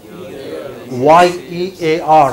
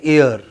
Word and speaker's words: year: here like this okay now say year but many of us in India pronounce it as ear this is my first